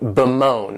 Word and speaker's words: bemoan: The next verb is to bemoan, and this verb has 2 syllables, and the stress is on that second syllable, moan, bemoan.